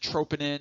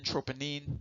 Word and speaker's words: troponin: heard of troponin or some people pronounce it troponin troponin many different ways of saying it in relation to